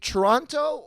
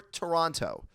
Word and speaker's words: Toronto: Toronto Toronto that says if you want to sound like a local the t is almost never pronounced I think Toronto is